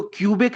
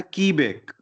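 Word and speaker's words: Quebec: ई बी ई सी इसको क्यूबेक नहीं पढ़ना है इसको पढ़ना है की बैक ठीक है सो रियल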